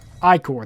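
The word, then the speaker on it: Ichor: for the series is to get acre or I core that's how you pronounce it so it's relate to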